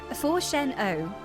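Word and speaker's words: Fourchenault: Forchen O forchen like forchen for cheese pizza.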